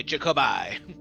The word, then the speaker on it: Jacoby: Hard eye, Jacoby.